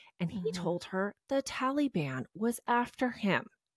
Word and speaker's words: Taliban: well it's true okay talian it's called the Taliban the T okay well I am